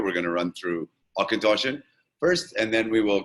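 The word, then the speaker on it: Auchentoshan: that'll give you akintoshi so it's a hard c k sound right and as you can see there we are distilled different now let's say why now why would you pronounce akintoshin akintoshi um now the reason is very simply is it's not an english word it's a gaelic word and in gaelic we pronounce things just a little bit differently than we do in english so um the gaelic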